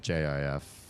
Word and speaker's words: Jif: GIF for the extension and JIF. Is it JIF? Just one F for the peanut butter. They just decided to make them be pronounced the same way, and it's cute.